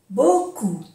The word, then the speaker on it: beaucoup: Beaucoup. Mucho. Beaucoup. No se pronuncia la P.